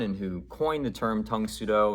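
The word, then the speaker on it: Tang Soo Do: who coined the term Tung Sudo, which was just the Korean pronunciation of Karate Do, Tung Sudo being Korean.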